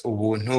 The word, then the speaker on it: Ubuntu: and by the way, in my language, Kinyanda, Ubuntu is pronounced as Ubuntu, which is pretty much just getting things for free.